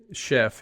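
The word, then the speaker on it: Szefc: look at his name Chef it's it's spelled SZ FC for those that don't know but pronounced Chef him and I have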